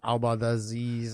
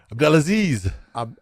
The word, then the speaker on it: Abdelaziz: Abdelaziz. I butcher it. I know you know how. Abdelaziz.